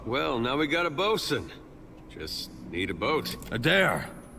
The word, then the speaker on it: boatswain: Alright, we've saved the bosun. I don't know why they say bosun when it says boatswain, but maybe I just don't know how to pronounce that stuff.